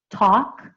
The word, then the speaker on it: talk: so L final V talk I don't pronounce the L in talk it's just T UK